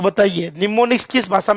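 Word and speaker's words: mnemonics: निमोनिक्स में एम क्या रहेगा? साइलेंट।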